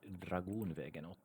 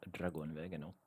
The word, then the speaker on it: Dragonvägen: And the correct pronunciation is actually Dragonvägen 8, not Dragonvägen 8. Dragoon is not a dragon. It's, well, something different.